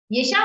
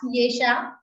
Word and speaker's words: Esha: Esha, what is the correct pronunciation of your name? Yes, it's Esha. Esha. Esha. So I will not ask Yesha, I will ask others.